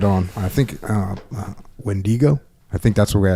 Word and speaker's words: Wendigo: Wendigo? You can pronounce it one or two ways. It's a Native American word, so it can be Wendigo or it can be Wendigo.